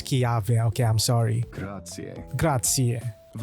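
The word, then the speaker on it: Chiave: I've been saying his name wrong. I keep on saying ChiV. It's Kyave.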